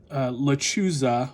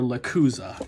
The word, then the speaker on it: Lechuza: But Lechuza or Lacuza, I've heard it pronounced both ways, but it is a